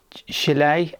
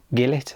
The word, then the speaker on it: gilet: So, it's going to be more like a dare I say a hooded gilet, is it? Is that how you say it? Gilet is what I would say.